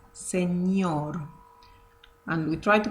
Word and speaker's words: señor: in the English alphabet, which is ñ. Ñ. So that word sounds señor, señor.